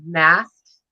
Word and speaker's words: Mast: Oh, it's MAST. Mast, like a sailboat.